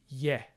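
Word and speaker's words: ge-: The first exception to this rule is the very common prefix ye, spelled G-E with a dot over the G. More on that later. This syllable is always unstressed, which means that the stress will always go on the syllable after the ye.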